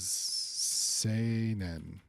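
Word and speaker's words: 青年: The reading is seinen.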